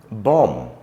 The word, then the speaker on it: bomb: there are a number um bomb cone lamb num thumb all end in the letter B not sounded in a mid uh